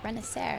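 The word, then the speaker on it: Renacer: it is it is it's confusing don't if you try to say it phonetically it's not going to work out so yeah renaer that's it okay how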